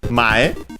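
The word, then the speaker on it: 前: Following noun, which is mae, accented on the first syllable, which has several meanings.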